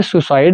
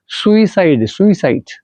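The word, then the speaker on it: suicide: ये सुसाइड नहीं होता actually, it's right pronunciation सुसाइड।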